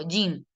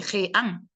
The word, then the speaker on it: jean: Aquí, ¿cómo lo pronuncia el gringo? Yin. Él no dice jean, dice yin.